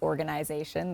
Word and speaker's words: organization: never met someone who pronounces organization the way that i do like with an e-y-e in the middle so uh notice that